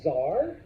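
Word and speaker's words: tsar: sense with one of the C's okay it's pronounce Zar okay it comes from the Latin word Caesar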